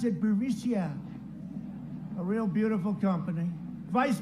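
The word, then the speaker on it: Burisma: executives so these uh burmesia burmesia they say pronounce it borisia a real beautiful company vice president joe biden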